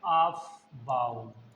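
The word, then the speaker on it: Aufbau: Rule number one उसको कहते हैं ऑफबाऊ। रूल ए यू एफ बी ए यू एस अबबाउज रूल लाओ स्पेलिंग और चेक कर लेते हैं एक बार ठीक है। ओके वैसे इसमें यू हटा दीजिए ये वाला ए ए जर्मन वर्ड है।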